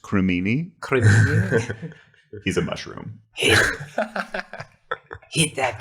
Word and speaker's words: Crimini: And he's just always in these situations like, I don't know, Criminy.